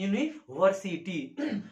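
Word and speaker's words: university: उसके आधार पर नहीं लगा, इसका उच्चारण लिखिए तो ये होता है यूनी, यूनी से शुरू होता है यूनिवर्सिटी और यह क्या है? यरलवा व्यंजन वर्ण है, इसलिए यहाँ क्या लगेगा? ए यूनिवर्सिटी।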